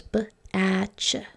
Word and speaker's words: batch: Why do I put the T in there? Can you tell your teacher that? Okay, well, the TCH rule says that when we have a 1-syllable word and it's a short vowel followed by the CH sound, we're going to write it TCH, even though we don't hear that T.